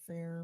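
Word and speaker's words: Phair: I think that's called but it's spelled P H A I R fair brick studio and supporting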